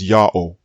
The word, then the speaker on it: Ya'oh: before the greek period it would be absurd to say that the pronunciation yahoo is greek it is not greek listen to me carefully his name is yahoo always was always will be so what of the